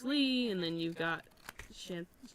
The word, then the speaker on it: Xanthe: and then you've got Xianthe. X what? Xianthe. I-A-N. So I was like, I don't want to say her name wrong. Yeah, so I was like, I want to say like Xanthe, like Hyun.